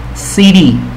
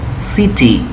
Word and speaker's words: city: poco aquí en ti por ejemplo en inglés americano comúnmente no se pronuncia a ti sino como siri y seria así producción ciudad en inglés americanas y de serie pero en el británico si ponen o cómo se lee que es city si ti game con